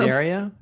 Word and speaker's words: Desideria: Is it Desideria? It's perfect. Okay, good. Yes. We're here with Good job. Desideria, and you're located in Sweden, right?